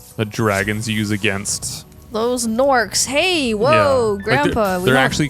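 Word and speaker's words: Gnorc: ont the soft G it spell with a G right it's g n o r c CS it sounds like a n but it's you know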